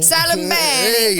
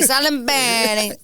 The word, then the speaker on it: Salimbani: Wait, how do I say it? Salimbani. We got to say it the right way. Salimbani.